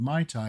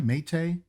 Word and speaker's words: Maita'i: The Trader Vic website confesses that the common pronunciation of Mai Tai is incorrect. Mai Tai, Maite? We know that Carrie pronounced it Mai Tai throughout her life, but which is correct? Listen to how these Tahitian speakers pronounce it. Maita'i Roa Ae.